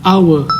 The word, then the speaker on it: hour: a House แต่ an hour ตัว H ใน ตอน ต้น ของ hour จะ เงียบ เรา จะ ไม่ ออก เสียง ว่า How แต่ เรา จะ ออก เสียง ว่า Our ซึ่ง เสียง จะ ออก